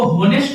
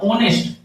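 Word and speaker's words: honest: इसको होनेस्ट नहीं पढ़ना, ओनेस्ट, एच साइलेंट है, ओनेस्ट पढ़ा जाता है।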